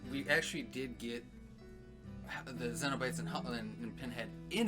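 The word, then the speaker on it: Cenobites: actually did get the xenobytes and hotline and pinhead in it i like that you pronounce it with a z instead of a c incentivize yeah it sounds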